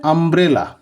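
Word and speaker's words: umbrella: হয় ইউ যেমন যেমন ইউ এম বি আর ই এল এল এ এই উচ্চারণটা কি হয়ে যাবে আমব্রেলা আমব্রেলা আমব্রেলাতে আমব্রেলা মানে ছাতা তোমরা জানো তাহলে আমব্রেলাতে দেখো ইউ এম আছে ইউ এম আছে ইউ এর উচ্চারণ এখানে হয়েছে আ এবার ইউ এর উচ্চারণ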